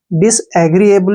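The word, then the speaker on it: disagreeable: क्या हो गया अग्री ए का जो प्रोनाउंस है ए करेंगे बी को ब पढ़ेंगे एल ई को ल पढ़ेंगे एबल देखिए डिस एग्री बल हो गया ना डिस एग्री एबल भी पढ़ सकते हैं आप इसको या फिर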